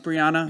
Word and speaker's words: Breonna: Brianna, how am I pronouncing it? Is that right? Brianna. Brianna? Yeah. Okay.